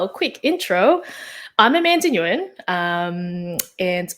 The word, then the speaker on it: Nguyen: quick intro I'm Amanda Nguyen um and my last name is pronounced Wing proper Vietnamese though um I am currently